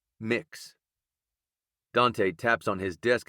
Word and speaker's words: Mx: me to elaborate and the MX onorific is pronounced mix Dante Taps on his